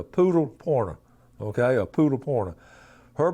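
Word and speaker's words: Pudelpointer: It's spelled P-U-D-E-L, but okay, it's a poodle pointer.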